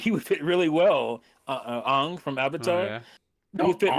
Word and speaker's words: Aang: the proper pronunciation. Who Yeah, cares what it's they Aang. It's Aang, my buddy.